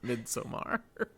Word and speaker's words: Midsommar: Appreciate that we all continue to pronounce it Midsommar.